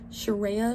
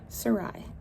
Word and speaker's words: Sarai: on this channel and every every time people meet me they're like sherea sharah and I'm like very close Sarai that's my name just in case you're